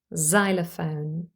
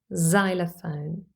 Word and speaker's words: xylophone: be pronounced number three x could also simply be pronounced as the sound Z but this only happens when X is at the beginning or the end of the word first of all at the beginning for example in the word xylophone xylophone or as in xenophobia